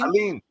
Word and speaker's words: Allyene: Allyene. Yes. Allyene, okay, I said it right the first time.